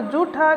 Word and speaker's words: जूठा: आपको ज़रूर आना चाहिए, क्योंकि आप कई बार झूठा को भी जूठा बोल देते हैं तो यह गलत होता है। इसलिए झूठा में झ होता है और जूठा में जय होता है।